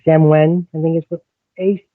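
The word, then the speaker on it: Samhain: is also um I always say this wrong Samwen I think is what a sam h e i n e but it's pronounced like Sam Samwen um and uh so that's what I follow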